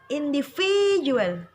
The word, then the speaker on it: individual: Yang kelima, yang ditekan di huruf V-nya, di huruf V-nya. Individual, individual, biasa. Individual, karena tanda petiknya ada di huruf V.